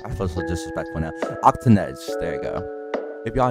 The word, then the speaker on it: Octanedge: talk about their video and go subscribe to Octonauts I keep saying your name wrong I first look disrespectful now octanez there you go if y'all enjoyed the video